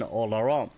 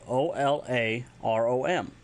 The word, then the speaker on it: Olarom: Anytime you join the server, you'll get the notification Olarom, which means welcome, which is spelled O-L-A-R-O-M, Olarom.